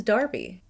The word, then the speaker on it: Derby: Americans say Derby, and the rest of the English-speaking world says Darby.